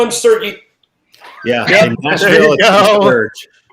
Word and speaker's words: Serge: Can you tell us pronounce your name the way you pronounce it for us all, please? Okay. Once again, Serge. Serge.